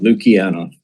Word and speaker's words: Luciano: And so to the delegation online, can you please correct me on pronunciation of your name first please? It's Luciano.